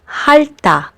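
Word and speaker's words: 핥다: We also have this combination of final consonants, and when it happens, you only need to pronounce the first one, which is l, like in the verb halta, which means to lick something, like an ice cream or a popsicle.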